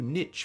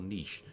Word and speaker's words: niche: seeking to carve out a new Niche for themselves or Niche depending on how you pronounce it it both are valid one right between The